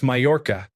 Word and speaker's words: Majorca: Two kids in a library arguing over the pronunciation of Majorca. It's Mayorca. You don't pronounce the J like a J.